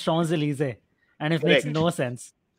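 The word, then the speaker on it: Champs-Élysées: a street called the famous street called uh champs delicious which is pronounced shawn's elysee and it makes no sense yes you're right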